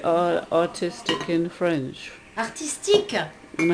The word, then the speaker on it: artistique: Artistique.